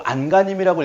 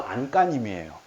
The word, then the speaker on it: 안간힘: 이거 안간힘이라고 읽으면 안 됩니다. 이거요 표준 발음 안간힘이에요. 중요한 거 아니지만 안간힘이라고 읽습니다. 왜냐하면 간힘 더하기 안이라는 합성어여서 이거 안간힘이라고 읽는데요. 된소리가 된답니다. 사실소리 현상이에요.